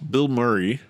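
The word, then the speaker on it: Bilmuri: We're gonna talk about the artist by the name of Bill Murray and the album American Motorsports. Uh, it's not spelled that way. It's B I L M U R I.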